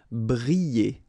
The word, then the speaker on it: briller: Briller. All right, so here, I and then double L, so you get the sound y, y, y. Briller, briller.